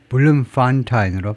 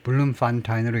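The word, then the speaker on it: Bloemfontein: 그다음에 발음은 블룸 팬타인 앞에다 선 블룸 팬타인블룸 판타인 블룸 판타인으로 발음이 까드롭기 때문에이 써 놨는데요. 블룸 판타인으로 읽습니다.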